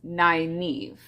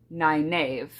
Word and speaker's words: Nynaeve: In the glossary of the book, it has her pronunciation as Nynaeve, but because when I was younger, I never read the glossary, I didn't know that, and I have always pronounced it Nynaeve.